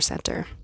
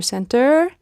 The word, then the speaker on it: center: cancer in a Cancer Center do you kind of feel the difference Cancer Center versus cancer center and and did you notice I actually did not pronounce the T Center you could say